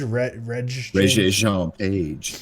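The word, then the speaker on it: Regé-Jean Page: How do you pronounce it? Is it Reggie Jean Page? Reggie Jean Page.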